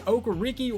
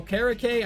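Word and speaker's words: Okereke: 89 at middle linebackers Bobby oakariki or okara Kay I've heard it pronounced both ways right outside linebackers a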